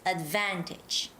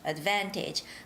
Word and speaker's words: advantage: and to take advantage the word advantage might be a little tricky it's advantage hey make sure to say the right intonation it's advantage advantage hi subin okay we